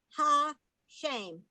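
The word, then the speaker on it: השם: word this word is ha shame okay i pronounce it with the long a shame this word means the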